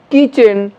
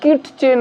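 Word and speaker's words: kitchen: ঠিক একইভাবে এখানে আমরা দেখছি কিচেন, ট উচ্চারণ হবে না, কিটচেন আমরা বলবো না, ক্যাটচ বলবো না, টি সাইলেন্ট ক্যাচ, ডিটচ বলবো না, ডিচ, এবং ওয়াচ বলবো না, ওয়াচ।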